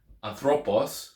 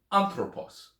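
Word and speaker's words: ἄνθρωπος: So instead of saying, like, for example, anthropos, say anthropos. Or instead of saying autos, say autos, using the Erasmian, or aftos. So putting it on the right syllable just makes it sound better.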